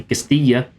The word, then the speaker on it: Castilla: But yeah, that is the Castillo as my pronuncious pronunciation experts have told me it said.